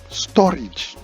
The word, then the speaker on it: storage: Now the next one is correctly pronounced storage, not storage, but storage.